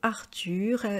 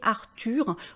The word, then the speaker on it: Arthur: h aspiré et d'ailleurs vous voyez Arthur on ne prononce pas non plus le H donc dans tous les